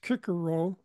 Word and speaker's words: Cicero: Cicero, or sometimes pronounced Cicero, was a person of ancient Greek culture.